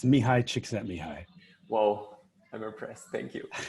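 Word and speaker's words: Csikszentmihalyi: through the session please it's mihai chick sent me high whoa i'm impressed thank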